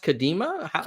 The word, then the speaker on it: Kadima: Tell me a little bit about, is it pronounced Kadima?